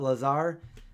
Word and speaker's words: Lazar: it Bob Lazar yeah it's like laser but lot Lazar I think that's how